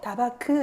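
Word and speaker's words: דבק: 다바크도 다바크 이렇게 하면 안 된대요. 다바크 이렇게 해야 된대요.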